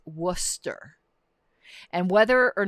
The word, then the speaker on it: Worcester: period of time um wooster but the ooh is pronounced like book so it's worcester and whether or not